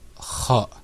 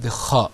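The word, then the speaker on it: خَ: Like, for example, kha.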